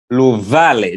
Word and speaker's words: Luvale: So we find that that's why Luvale, it's not Luvale. No. The V is Va. It carries the Va sound.